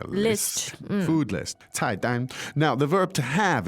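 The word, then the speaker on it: 菜单: now, the verb for menu is 菜单，菜单。菜单. Great. Fourth tone and first tone.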